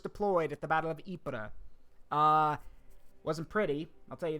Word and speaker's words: Ypres: However, in 1915, the first Battle of Ypres, by the way, that is how you say this, Ypres, right over here.